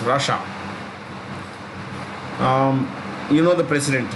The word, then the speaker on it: Russia: sixth by population russia that's how you pronounce it rush and ah two sounds russia um you know the